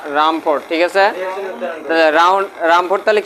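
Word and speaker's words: Rumford: রামফোর্ড রাদারফোর্ড count রামফোর্ড sorry উচ্চারণ ভুল করছো রামফোর্ড ঠিক আছে রামফোর্ড তাহলে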